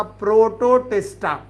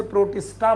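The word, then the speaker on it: Protoctista: उन्होंने नाम रखा था प्रोटोटिस्टा। याद रखना, यहां पर सी साइलेंट है। कई बार लोग इसे प्रोटिस्टा बोलते हैं। इट वॉज नॉट द प्रोटिस्टा, प्रोटोटिस्टा।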